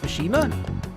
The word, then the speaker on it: Mishima: let's go Mishima oh is that how it's pronounced Mishima sujin Academy is a place where those with